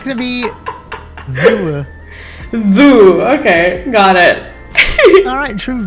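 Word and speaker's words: Vue: Yeah, because we have a cinema here called the View Cinema. View, but spelled V-U-E.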